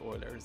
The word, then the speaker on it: Euler: I've heard many pronunciations for this. I personally just go with oilers. That's what I was taught in my classroom anyway when I was taking courses. If you know anything about golden